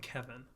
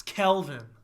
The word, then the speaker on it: Kelvin: I keep calling him Kevin. Kevin. That should be his nickname. Kelvin is a story. And it's not even spelled like Calvin. It's Kelvin.